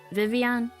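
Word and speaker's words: Vivillon: The L's are silent, because it's French. Right? Vivian? I'm pretty sure it's pronounced Vivian, the butterfly.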